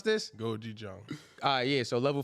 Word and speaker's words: gochujang: How you pronounce this? Gochujang.